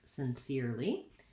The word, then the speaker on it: sincerely: also in speaking so sincere lee has three syllables and this the middle syllable is stressed so if i were to see the ipa i would see it as sin i'll put the mark before my stressed syllable sin seer lee thinking about that ear diphthong is probably going to help you in this word spelled here with ere just like in the word here we don't um really